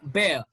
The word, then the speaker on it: bear: okay we mispronounce it this is not beer it's bear pill bill bad neat